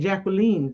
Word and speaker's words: Jacqueline: Uh, well, Jacqueline has, and Jacqueline. You know what? I love the way people pronounce that because we always screw it up, but that is the right pronunciation.